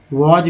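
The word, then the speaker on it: was: जैसे वॉज spelling याद रखिए, वॉज में एस को ज बोलते हैं, ठीक है, वॉज में, या WS वॉज में एस को ज बोलते हैं।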